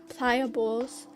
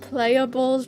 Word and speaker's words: Pliables: an acai place today it's called pliables I thought it was pronounced playables before and that's so embarrassing for